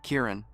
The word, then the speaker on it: Kieran: You have to pronounce it with the stress on the first syllable and say the rest more gently. After hearing him, she said his name again. Kieran.